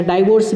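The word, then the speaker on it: divorce: तो उसे हम क्या कहते हैं, डिवोर्स, या डाइवोर्स भी हम बोल सकते हैं। दोनों प्रोनाउंसिएशन सही है, डिवोर्स भी बोल सकते हैं, डाइवोर्स भी बोल सकते हैं।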